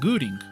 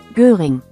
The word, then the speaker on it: Göring: Cuando a una O en alemán le pones el umlaut, se escucha como U. Hermann Göring.